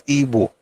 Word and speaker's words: Igbo: It's still IBO, and I pronounce it as Igbo. In fact, this is my own way to protest that your stupid Igbo or Igbo nonsense that you guys are doing. It is IBO, but the pronunciation is Igbo.